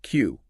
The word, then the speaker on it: queue: Or, on the flip side, you have a word like queue, a line of people. Right, where only the first letter Q is actually pronounced.